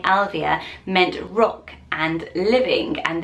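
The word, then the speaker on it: Ailbhe: from an Irish name Alvia so put the name on screens it doesn't look like it's gonna be pronounced Alvia but that is the pronunciation of it and it's synced by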